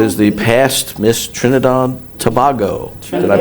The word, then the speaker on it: Tobago: And China Allen, who is the past Miss Trinidad Tobago. Did I pronounce that right? Tobago. Yeah. Tobago.